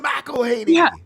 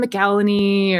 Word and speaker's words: McElheny: Is he like Mhaney? Say it right. Um, actually, yeah, you pronounced my name correctly for the first time. So, well done. What do people say? U McAllin or he's good.